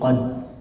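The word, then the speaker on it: قدر: Bacanya begini, inna anzalnahu fi lailatul qadr. Qadr saja, R-nya mana? Padahal kan qadr ya ada. Wa ma adraka ma lailatul qadr. Qadr seharusnya itu.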